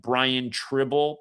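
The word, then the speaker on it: Tribble: They said the guy responsible for Len Bias's death, his last name rhymes with dribble. I mean, come on, man. Brian Trible, please.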